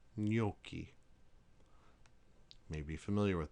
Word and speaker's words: gnocchi: Whenever you have a GN together, it sounds like the N as in onion, as in gnocchi. You may be familiar with that, gnocchi.